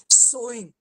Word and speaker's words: sewing: anyone for this pronunciation tanuja sewing yeah that's sowing yeah to sew that's the verb and sowing and uh that's how you would say this word and of course that's